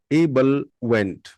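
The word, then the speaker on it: ebullient: समझ नहीं पाया एंड the next word is इबल वेंट इबल वेंट इबल वेंट इ बल वेंट इबल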